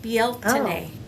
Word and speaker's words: Bealtaine: Beal Taine, Oh, Bealtaine. well then what's Beltane? It's the same. It's Oh. just an English pronunciation of the Irish Oh, word, I okay.